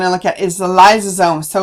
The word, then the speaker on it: lysosome: look at is the lysosome so lice rhymes with slice so these are the